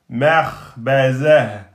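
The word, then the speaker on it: مخبزة: Non, vous restez sur mekhbezatun. À l'arrêt devient mekhbezah, mekhbezah.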